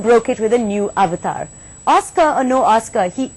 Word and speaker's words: avatar: Well, I pronounce it avatar like everybody else does, but I believe it's pronounced more like avatar.